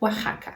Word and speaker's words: Oaxaca: E as palavras lá do México, também nomes próprios, nomes de pessoas e lugares, que começam com X ou que tem o X no meio, devem ser pronunciadas com som de J, como em México, Jimena, Oaxaca.